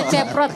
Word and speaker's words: Baceprot: Gimana bacanya? Baceprot, voice of baceprot.